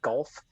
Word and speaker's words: Goff: You got to say it like Troy Aikman, Jared Goff.